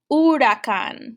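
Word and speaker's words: huracán: h there well espanol i don't pronounce the h the h is silent so instead of saying i would say urakan with that with that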